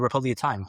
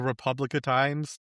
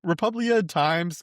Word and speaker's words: Republia Times: I've been pronouncing this as the Republica Times this whole time, and I did not realize there was no C.